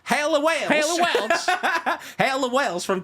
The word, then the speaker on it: Haley Welch: making her own podcast you say her name correctly it's haly Welch haly wel hail wels